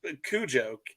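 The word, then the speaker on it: Koujo: in charge of it, he had a name Cujo. That's sort of how you pronounced it, but he spelled it with a K-O-U-J something.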